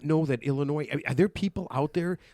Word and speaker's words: Illinois: I mean how do you not know that Illinois? Are there people out there like do the other states pronounce the S?